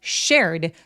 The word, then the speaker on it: shared: 여러분 보통이 쉐어라는 동사를 셰어라고 많이 하세요. 쉐어. 근데 쉐어가 아니고요. 어떻게 소리를 내셔야 되냐면 쌍쇼보다 더 센 느낌으로 쌍옷 세게 욕할 정도로 shared shared 하셔야 돼요.